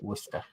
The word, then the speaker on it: Worcester: I know it says Worcester, but they pronounce it Worcester.